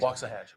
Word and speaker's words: Waxahachie: Waxahachie.